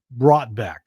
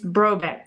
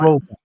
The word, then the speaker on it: Brotbeck: I'm going to guess Brotbeck. It's Brobeck. The T is silent. Brobeck.